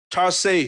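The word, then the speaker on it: θάρσει: le hang takinomin hi pen kam mal Greek Tarsei chi Tarsei mede THARSEI hina a pronunciation da na ayang a Greek word berike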